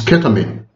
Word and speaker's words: ketamine: But of course, the correct pronunciation is ketamine.